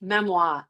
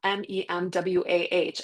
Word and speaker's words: memoir: It's pronounced memoir, Memwah, and it's just three Gen Xer.